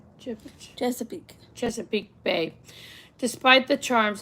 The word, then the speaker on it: Chesapeake: Chesapeake.